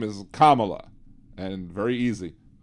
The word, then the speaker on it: Kamala: but his name was Kamala her name is Kamala and very easy just say Kama and then La then put it together Kamal very easy to